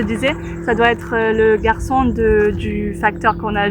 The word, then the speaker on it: garçon: Alors sans la sédille, on dirait Garcon, mais la CDI ici sous le C veut que la prononciation soit garçon.